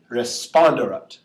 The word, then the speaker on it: responderat: So last syllable, second to last syllable, ER, nope, that's a short E and just a single consonant, so it would go here, responderat. It's a long syllable we're talking about here, not a long vowel.